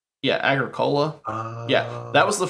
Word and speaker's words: Agricola: Agricola. Yeah, Agricola.